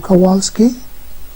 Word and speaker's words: Kowalski: Jim Kowalski.